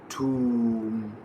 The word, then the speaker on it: tomb: It is tomb.